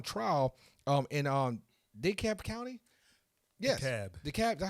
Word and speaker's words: DeKalb: Yes, DeKalb. That's how you pronounce it.